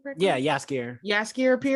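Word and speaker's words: Jaskier: said i'm saying yeah yes gear yes gear appears no with a j but it's pronounced yes yeah yes gear um he is my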